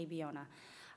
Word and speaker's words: Abiona: And I always break it down very simply, A-B-O-N-A, Abiona.